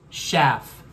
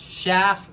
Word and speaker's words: Schaf: Canada yes I'm here to talk all about chef and yes it's pronounced chef you see chef rhymes with anyway I posted